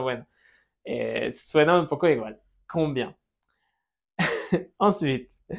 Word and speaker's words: combien: Combien. Ensuite, comment? Comment? D'accord? Comment? Comment tu t'appelles? Nasal final. Comment? Et on ne prononce pas la T.